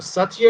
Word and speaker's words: Satya: Satya, thank you.